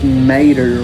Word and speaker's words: Mader: At first I thought it was Mader, from Cars. It is like that. It's spelled exactly like that. That's why I said it was the goofiest I thought Mader from Cars is M-A-T-E-R. And his last name is M-A-D-E.